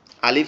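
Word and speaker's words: ألف: সেটা হচ্ছে কি, আলিফ যে অক্ষরটা আমরা উচ্চারণ করি এটা হচ্ছে আমাদের উপরের দাঁত নিচের ঠোঁটের উপরে লেগে হালকা বাতাস বের হয়। আলিফ, আলিফ, আলিফ, আলিফ, এরকম ভাবে।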